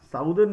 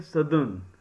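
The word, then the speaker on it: southern: साउदर्न नहीं पढ़ेंगे, सदर्न, right, this is also an important point to be highlighted, सदर्न India.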